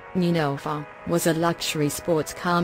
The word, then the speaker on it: Neunelfer: original Porsche 911, pronounced 911, German, Neunelfer, was a luxury sports car made by Porsche AG of Stuttgart, Germany.